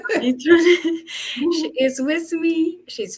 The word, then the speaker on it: Adetoyin: I never come this early, but today I did it because I have a special guest, Dr. Adotini. Did I pronounce it well? Adetoyin. Adetoni.